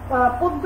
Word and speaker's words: পদ্য: যকারযুক্ত ব্যঞ্জন বর্ণ থাকলে, শব্দের শুরুতে যদি অ থাকে এবং তারপরে যদি যকারযুক্ত ব্যঞ্জন বর্ণ থাকে, তাহলে সেই অ এর উচ্চারণ অ এর মতো না হয়ে কিসের মতো হয়ে যাবে?